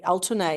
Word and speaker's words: Altuney: Altuney is how you pronounce it in Turkish, which is Altuneg, and the G is a silent G.